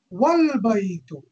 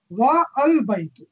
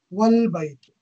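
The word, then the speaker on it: وَالْبَيْتُ: If it is preceded by a word, it is dropped in pronunciation, though it remains in writing.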